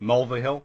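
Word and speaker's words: Mulvihill: hill mville hill that's that's how I would pronounce it mulvahill I'm I'm sorry Trish for butchering your name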